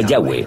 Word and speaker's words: Yahweh: y español son yhw pensamos que probablemente se pronunciaba yahwe o algo así pero yahwe solo aparece